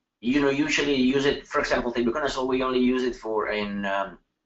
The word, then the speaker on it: tebuconazole: When is the safest time to use tebuconazole, am I pronouncing that right?